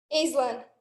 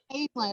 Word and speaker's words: Aislinn: Is it Aislinn or Aslan? Am I saying it right? I'm going to unmute you so you can tell me the right way to say it. What's the right way? Aislinn. Aislinn. Okay.